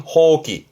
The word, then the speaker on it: 放棄: 포기 발음은 호기. 호기.